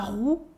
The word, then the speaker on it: roue: When learning French, people often can't make the difference between the U and the OU.